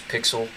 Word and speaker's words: PyXLL: going to use is called pixel it's how you pronounce pixel um and it is